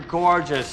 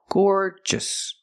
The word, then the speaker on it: gorgeous: So the first syllable is the long or sound, like floor and more. Gore. Gorgeous. Just. The stress is on the first syllable. So don't say gorgeous. Make it shorter.